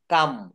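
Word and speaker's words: come: দেখেন সি ও এম কাম কিন্তু এখানে সি ও এম ই সি ও এম ই এটা কামই বলা যাবে না কিন্তু লিখতে হবে সি ও এম ই এটা উচ্চারণ করতে হবে কাম কাম কাম মানে হচ্ছে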